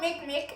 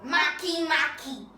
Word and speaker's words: Makemake: It's not called Makemake, it's called Makemake. That's the correct pronunciation.